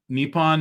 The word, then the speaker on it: Nippon: Yeah, so from what I Uh, understand, it's Nippon is obviously the was- way that people yes.